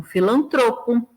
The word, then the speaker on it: filantropo: E aí a gente tem alguns casos, só para ficar claro onde é a sílaba tônica. Então, filantropo, ibero, ínterim, libido, Lúcifer, misantropo, ômega, pudico, rubrica e ruim, né?